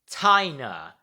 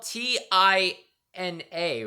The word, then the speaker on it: Tina: her name was pronounced tinina because it's spelled t i n a right so you would think it's pronounced t but no it's Tina because there's an i instead of an e so yeah that is